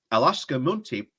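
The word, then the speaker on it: Akshata Murty: Sunak's standing among Tory MPs has been rocked after the Independent revealed that his wife, Alaska Munty, that's how you say it, holds a non-domicile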